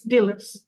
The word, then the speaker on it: Delos: sand after this um dillos dillos yes it's dillos yes been here yes